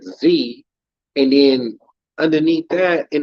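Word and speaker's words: xie: was it says z it was like x i e right but you pronounce it z and then underneath that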